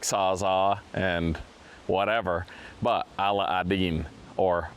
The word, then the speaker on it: Aladdin: It's Aladdin or Ala Aden, as I've been told it's pronounced.